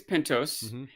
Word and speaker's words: Pentos: I want to know do you say pentos or pentos it's not as big a pronunciation debate as celtagar celtagar but I am curious what you all would say I think it's pintos and my reasoning is that it would have a second s if it was pentas assuming